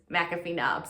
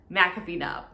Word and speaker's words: McAfee Knob: so that convinced me that it really is mcafee knob so in case you were wondering about the pronunciation i'm pretty confident that it is in fact mcafee knob number five this is one i cannot recommend